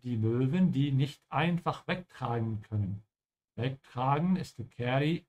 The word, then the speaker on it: wegtragen: Genau, be careful with the A here, there is no Umlaut, wegtragen.